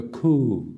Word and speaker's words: coup: The coup is pronounced K-O-O. It's spelled C-O-U-P.